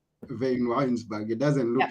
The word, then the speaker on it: Vanwynsberghe: to practice your name tell us how to pronounce okay van winesberg vayne Winesburg it doesn't look like that but anyway it's